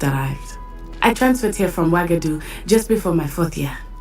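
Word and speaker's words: Wagadou: How big is Uganda? Not Uganda. Ugadao? Is that how you pronounce it? Ugadao? Is Wagadu much bigger than Wagadu, Hogwarts?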